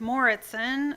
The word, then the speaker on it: Moritzen: My name is Moritzen. It's pronounced Moritzen. It's Danish, not Dutch.